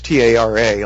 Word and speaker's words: Tara: can look her up it's t-a-r-a like Tara pronounce Tara Cardinal she's known as like